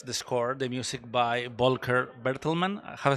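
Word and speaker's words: Volker Bertelmann: about the this the score the music by vulker berlman have I say it right perfect okay uh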